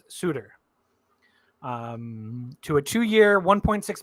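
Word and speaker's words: Suter: I believe it's pronounced Suitor um to a two-year 1.6 million dollars per year contracts so not not to be confused with Sutter not Brandon Sutter or Daryl Sutter but this he is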